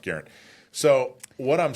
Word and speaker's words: Garand: Garand, which he found out through his research is not Garand. It's actually pronounced Garand.